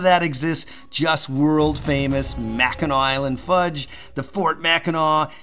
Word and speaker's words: Mackinac: have the aw on mackinaw city the difference is simple it was french that occupied early on the islands and the uh sea